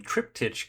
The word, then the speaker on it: Triptych: And that brings us to Triptych Cube. Triptych Cube. Apparently it's pronounced triptych.